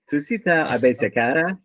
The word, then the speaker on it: Tusita Abesekara: So let me try to pronounce the entire name, Tusita Abesekara.